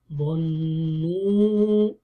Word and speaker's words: ظنوا: وأنهم ظنوا. ظ is heavy, نون with the واو longation. If you say ظنوا, it doesn't become a plural. It's a ظنوا, or they taught, or they think in a way, all of them.